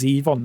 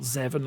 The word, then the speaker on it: Zevon: Right, no, I know Werewolves of London, and by the way, it's Zevon, not Zevon, like you said on stream several times.